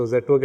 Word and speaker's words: Zetwerk: So Zetwerk actually is a Dutch word. Yeah. and it also rhymes with network.